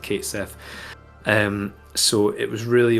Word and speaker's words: Cait Sith: that I'd had a conversation with i' always pronounced Kate Sith um so it was really only after the